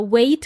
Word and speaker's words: weight: okay amigos Amigas now there is a letter g in this word g uh and we don't pronounce it so it's in there